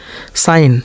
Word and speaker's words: sign: साइन, साइन बीच में जी छोड़ दिए।